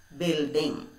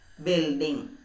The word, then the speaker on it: building: speciality of this word there is a silent letter what is the silent letter yes this so how can we read the word building u is not pronounced building say it once more